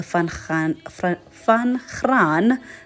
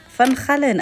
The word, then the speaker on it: Van Gaalen: it was at the Van Graan trails. Van Gaalen, I've been saying it wrong all along.